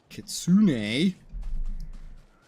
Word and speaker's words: kitsune: speak on your behalf is that Kitsune actually I've heard that word that's how I know it's pronounced like that Kitsune do this for free